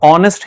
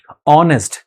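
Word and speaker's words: honest: लिखा हुआ है ऑनेस्ट, अब आप देखोगे कि एच है, एच के पहले एन क्यों आ रहा है, क्योंकि इसका प्रोनाउंसिएशन तो ऑनेस्ट ही हो रहा है, यानी कि हम बोलते हैं ऑनेस्ट, तो हो जाएगा एन ऑनेस्ट मैन is respected.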